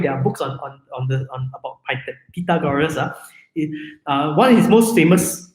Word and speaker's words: Pythagoras: It is not pronounced Pythagoras. Properly speaking, it is pronounced as Pythagoras.